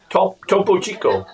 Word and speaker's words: Topo Chico: Topo Chico.